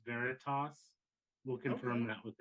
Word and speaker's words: Veritas: Greg, before I screw up your band name, is it Veritas? Yeah, Veritas. All right, because I was definitely pronouncing it wrong to start with, so I